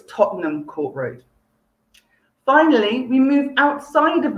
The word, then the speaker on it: Tottenham Court Road: popular with our visitors lots of people trying to pronounce it in full tottenham court road but you just push it all together so it's tottenham court road finally we move outside